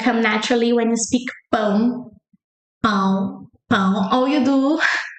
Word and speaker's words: pão: It's just gonna come naturally when you speak pão, pão, pão. Or you do the other hack, like So then you say p, the p in Portuguese is p. Pão, pão, pão, pão, pão, pão.